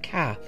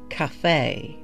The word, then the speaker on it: calf: remembered it because of the way the caller pronounced the word calf he said it like Cafe and also the caller